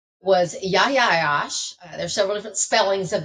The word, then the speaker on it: Yahya Ayyash: His name was Yahya Ayyash. There's several different spellings of that, so you may see it one way or the other, but it's pronounced Yahya Ayyash.